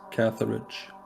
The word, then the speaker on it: Catharage: So, how do you pronounce this game's name? Am I close? You're basically correct. It is Catharage.